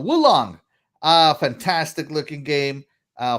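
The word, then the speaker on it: Wo Long: all right uh now this game is actually pronounced let me see if i can sit like my wife says woo long boo long so wulong ah fantastic looking game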